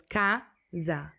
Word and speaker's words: casa: Let's take the word casa or house, for example. The first A is very open, while the second A is very closed, so it's casa.